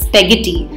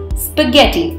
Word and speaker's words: spaghetti: of long thin strings it is often incorrectly pronounced as spaghetti please remember the SPE here is pronounced as s pu h spa spa forget hence the correct pronunciation of the word is spaghetti tortilla is a thin